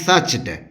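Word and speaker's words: searched: वी सर्च्ड वी सर्च्ड इसके उच्चारण में आर साइलेंट रहता है और हम इसको बोलते हैं सच्ड वी सर्च्ड every single Kanha we सच्ड every single Kanha उसकी बात गांवगांव फैल चुकी है।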